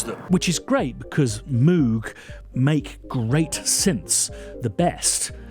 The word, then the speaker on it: Moog: makes stuff like this Moog, a company founded by Bob Moog. This is because I'm entirely convinced that Moog Music called itself Moog Music certainly in the 60s, 70s and 80s.